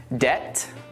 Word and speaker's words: debt: Let's now look at 3 more common words with a silent B. Det, doubt, and subtle. Now that you know that we don't pronounce the B in these words, try reading this sentence out loud.